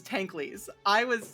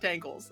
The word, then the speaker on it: Tankleys: I didn't know that you said it was Tankleys. I learned how to say it correctly only because I was like, oh, okay, good, because I would have said Tankles 100%, which in hindsight would have been really funny.